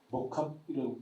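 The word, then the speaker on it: mock-up: 목합이라고 발음 목업이 아니라 목합이 맞는 것 같아요.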